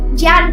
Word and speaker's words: ज्ञान: अभी ज्ञान मराठी में य बोलते हैं और हिंदी में ज बोलते हैं, तो ज्ञान कांड उसका असली प्रोनाउंसिएशन है।